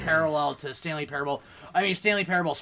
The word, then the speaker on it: Parable: to come in handy you put the wrong emphasis on the wrong salable what is it what's the name of the game Stanley Parable okay Parable Parable this game is